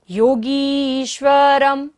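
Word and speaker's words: योगीश्वरम्: मनंत मनंग के तुम योगीश्वरम। र के ऊपर बिंदी और बाद में क्या है? व। य र ल व। बिंदी का उच्चारण क्या होगा? म।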